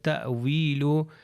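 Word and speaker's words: تأويله: کے اوپر آیا تو حمزہ ہی پڑھا جائے گا تھوڑے سے جھٹکے کے ساتھ، تأویلو تأویلو.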